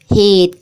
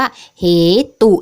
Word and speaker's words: เหตุ: ตาม ตัว นะ คะ จะ อ่าน เหมือน กับ คำ ว่า เห ตุ ใช่ ไหม คะ แต่ จริง ๆ แล้ว ไม่ อ่าน ว่า เห ตุ นะ คะ เรา จะ อ่าน ว่า เหตุ เพราะ ว่า อ่า นัก เรียน สังเกต สระอุ ที่ ต. เต่า นะ คะ เรา จะ ไม่ อ่าน ออก เสียง สระ อุ ดัง นั้น คำ นี้